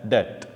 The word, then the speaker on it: debt: Okay, the spelling is D-E-B-T, but the B is silent and you pronounce it as det.